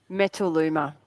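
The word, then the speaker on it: Metaluma: who are listening so me tlu m a. how do you pronounce it met met Luma metal Luma it's two words so there's this word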